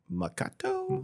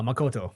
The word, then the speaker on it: Makoto: was reading that um I keep saying his name wrong makato ma Makoto Makoto yeah yes that uh he I was